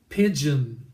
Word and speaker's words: pidgin: there's a language called pidgin English I think it's spelled PID GI n you can google it it's called pidgin English it sounds like the bird pigeon but I think it's